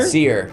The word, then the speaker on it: Seer: Sire? Seer. It's Seer.